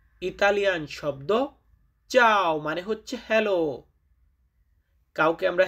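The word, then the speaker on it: ciao: যেমন চাও। ইতালিয়ান শব্দ চাও মানে হচ্ছে হ্যালো।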